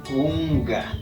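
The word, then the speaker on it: kunka: con k sin embargo la última K sí se pronuncia como una G unga ya ahí está la pronunciación y la escritura la escritura cunca dice la pronunciación punga como para hablar con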